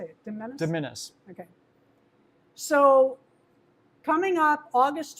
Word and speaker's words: de minimis: Diminis.